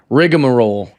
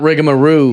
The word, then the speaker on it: rigmarole: Yeah, I just found out this week in Australia that it's rigmarole. Yes, not rigamaroo. No. Yeah, I've been saying it wrong my whole life.